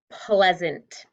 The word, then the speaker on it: pleasant: It sounds a short E sound, doesn't it? Eh, like bread. And what about this syllable? What's going on here? It's closed. If we had just this word, what would you say it says? Ant. But do we say pleasant?